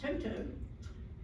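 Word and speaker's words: toetoe: a bay of whales this is the toy toy plant which they pronounce Toto it's a native plant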